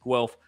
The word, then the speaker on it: Guelph: correct in his first and last attempts it's pronounced guelph by the way i'm loving these shows keep